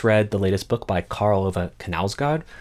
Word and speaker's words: Knausgård: I just read the latest book by Karl Ove Knausgård, whose name I only recently learned to sort of pronounce. I was never saying K before then.